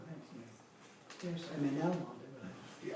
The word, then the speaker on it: Almonte: Yes, I'm in Almonte today. Yeah, I think so. Almonte. It's that's the original pronunciation.